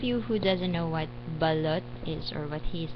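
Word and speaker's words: balut: for those of you who doesn't know what balot is or what that he's talking about so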